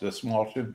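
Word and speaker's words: Dastmalchian: David Desmalchin. Desmalchin, yeah. Is that how it's pronounced? Desmalchin?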